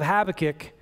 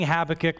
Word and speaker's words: Habakkuk: There's a powerful example in the book of Habakkuk of what this looks like. And I was hesitant to speak about this passage because I had trouble pronouncing Habakkuk, but I worked on it.